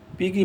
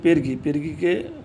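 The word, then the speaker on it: pergi: পেরগি মানা আবাং, পিগি মানা আবাং। এখানে পেরগিকে মালা ভাষা চলিত ভাষায় সাধারণত পিগি বলেন। এটা উচ্চারণ হয় পেরগি।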